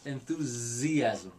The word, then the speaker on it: enthusiasm: way yeah that's ridiculous the s makes the z sound enthusiasm it's not enthusiasm uh english spelling it's not a word with a lisp you have to say